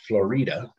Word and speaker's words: Florida: deserts some sonoran desert on the way especially florida wash which is uh i guess florida it's spelt like florida but it's pronounced florida and it it just basically means full of